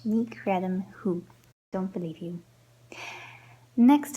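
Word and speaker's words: creidim: And next we have khred-im.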